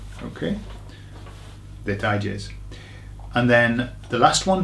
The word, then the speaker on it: detalles: Okay, so it's very similar to the word details, but the pronunciation, you've got to get a tie in the middle. So put a tie on it, okay? Detalles.